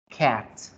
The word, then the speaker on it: cat: Cat, cat, cat. Practíquenla ya en casa. Cat, cat, cat. ¿Sí? Cat, con la A torcida.